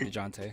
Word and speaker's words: Dejounte: I would much rather keep DeJounte. You gotta say it like that.